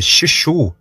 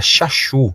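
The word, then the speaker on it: Shasu: Em egípcio, eles eram chamados de Xixu. Provavelmente, alguns dizem que a pronúncia era Xaxu, a pronúncia exata, que os egípcios chamavam esta tribo Ixa semítica, eles os chamavam de Xaxu.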